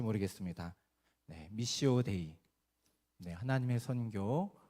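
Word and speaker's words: Missio Dei: 반드시 선교적인 교회가 돼야 된다고 말하고 있습니다 여러분 발음이 좋지 않지만 한번 따라해 보시겠습니까 미시오데이 예이 말이 굉장히 단순한 말같지만 너무 유명하고 중요한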